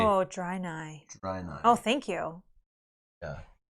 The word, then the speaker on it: Draenei: Oh, Draenei.